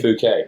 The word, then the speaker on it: Phuket: Yeah, Phuket. Phuket. Is that how it's pronounced? That is.